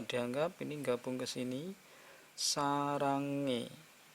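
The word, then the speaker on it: 사랑해: berikutnya nih di Hai sarange hanyalah dianggap ini enggak Bung kesini sarange bukan Saranghae bukan Hai untuk suara e ye e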